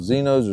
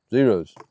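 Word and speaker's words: Xero: Xenos or Zeros? Zeros, I think. Said it's spelled with an X, but you got to buy a box of ammo.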